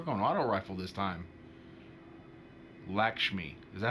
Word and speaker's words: Lakshmi: Lakshmi. Is that how you say it? Lakshmi.